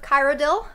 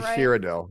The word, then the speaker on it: Cyrodiil: Number 1, Empress of Kyrodiil by Anaven Cosplay. Mm-hmm. Dang, I believe it's actually Cyrodiil. I just wanted to correct it.